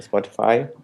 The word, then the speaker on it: Spotify: Que eu nem sei se essa é a pronúncia correta em português, mas Spotify. É isso mesmo. Eu estou no Spotify, que a sede principal é aqui em Estocolmo.